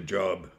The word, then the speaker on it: Job: looking that book up it's actually job but it's pronounced job man's name uh i put forth